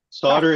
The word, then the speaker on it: solder: can come back and say hey solder is the correct pronunciation I'm I'm so happy